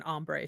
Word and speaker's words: hombre: Listen, I am clear and see through, and I have just learned not to say the H in hombre.